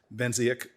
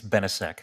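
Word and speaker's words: Benisek: brought a lawsuit, and if I pronounce this right, Benziak versus Lamone. I think it's Benesek, Senator.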